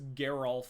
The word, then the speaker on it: Geralf: like they have very similar names but they pronounce them differently so it is Geral and jisa or jisa anyway fun little Excursion